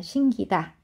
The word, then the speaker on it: 신기다: 거기에 사동전미사 기가 들어가면서 신기다가 되는데 끼로 발음하지 않는다는 거예요. 신기다. 신기다. 신기다 이렇게 발음을 하는 거고 자 요거 기억하시면 되겠습니다.